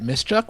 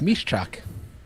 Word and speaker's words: Miszczak: Well, everybody calls everybody pronounces it Mischuck, which is incorrect, but it's Mishchuk.